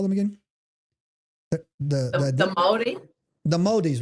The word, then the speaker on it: Māori: The Māoris, right? So how do you say that? Māori. You want to like swallow it.